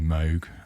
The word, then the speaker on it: Moog: which is running a mini Moog sawtooth sorry Mini Moke I'm British so you know we pronounce things weird so we've got the